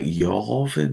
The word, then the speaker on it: Yavin: I did recall someone pronouncing it something weird like Yarvin or something. Did anyone else catch that? Someone, Yeah. one of the characters pronounced it Yarvin. Yarvin. Yeah. It's a bit posh.